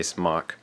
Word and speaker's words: SMOK: It is the SMOK or SMOK. Some people pronounce it differently. I say SMOK.